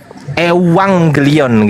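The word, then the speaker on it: εὐαγγέλιον: Itu dibaca V tapi bukan V tapi dibaca V. Nah, itu ya. Jadi, tapi itu enggak menggunakan V, Teman-teman. Itu menggunakan eh epsilon terus kemudian eh ssilon jadi ewang gelion gitu epsilon e gitu bacanya teman-teman ya.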